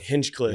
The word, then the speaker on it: Hinchcliffe: hin Cliff if you say it right HFF hinchcliff sorry bro um his wrong yeah he was